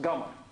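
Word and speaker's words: γ: this symbol is the Greek letter G it's pronounced gamma okay gamma rays is a kind of electromagnetic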